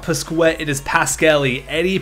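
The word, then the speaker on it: Pasquale: goalie his name is not pet it is Pascal Eddie Pascal I looked it up and it is pronounced that way so I am dumb but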